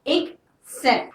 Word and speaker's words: except: I'M SURE I'M ERASING ALL ANOTHER WORD S EXCEPT NOW SEE THE PRONUNCIATION IK-SEPT THOUGH PRONUNCIATION YOU CAN IDENTIFY THE DIFFERENCE DEFINITION: